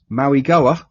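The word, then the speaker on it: Mauigoa: The linebacker, Maui Goa, because I can now say it properly.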